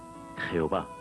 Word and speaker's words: Jehová: el que traerá matón que en español se pronuncia jehová este nombre aparece